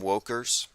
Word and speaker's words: wokers: to start calling them wokers rhymes with Jokers kind of like it